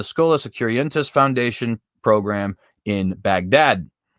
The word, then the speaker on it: Baghdad: securientes foundation program in baghdad that's actually bog dot i'm pretty sure is how you're supposed to pronounce that but whatever i am